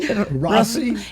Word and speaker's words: Rocío: But Rocío. It's Rocío. Oh, Rocío. Rocío. Rocío. Rocío. Yes. Ooh. You got to roll your Rs.